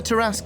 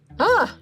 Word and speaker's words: Tarrasque: Do any of you know what a Tarrasque is?